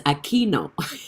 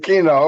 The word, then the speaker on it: Aquino: attend his life and he always mispronounced my name but i always wanted to have a chance to let him know it's aquino and this is my